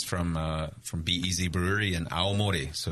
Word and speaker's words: Aomori: The prefecture's called Aomori, and the place I live is called Hirosaki. Hirosaki.